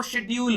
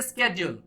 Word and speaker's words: schedule: तो इसे British English में जो प्रोनाउंस किया जाता है वो शेड्यूल होता है, शेड्यूल। और इसके स्केड्यूल, यहां जो प्रोनाउंस करते हैं इसको स्केड्यूल कहते हैं। देख लीजिए एक ही वर्ड है लेकिन दो प्रोनाउंसिएशन हो गए, शेड्यूल और स्केड्यूल।